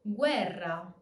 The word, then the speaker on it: guerra: We, as in guerra. Guerra. Weak U plus strong E. Remember that the strong vowel always keeps the regular pronunciation. So in this case, since the E is stressed, it's going to keep its normal E pronunciation and it's not going to turn into a Y sound. On the other hand, since U is the weak vowel, it will do the W sound.